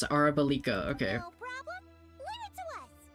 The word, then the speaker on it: Arabalika: Oh, that's how you pronounce it. Arabalika.